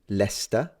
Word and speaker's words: Leicester: Celtic tribe is that how you read it leester and to the Anglo-Saxons was lierre you can